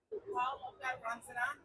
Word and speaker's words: Lobga Rangzen: I wanted to make sure that I'm honoring her name and pronouncing it correctly so you feel free to correct. Lobga Rangzen.